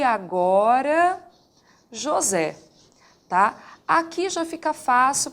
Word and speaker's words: José: caso aqui e agora José José tem a sílaba tônica na última sílaba realmente da palavra Então nesse caso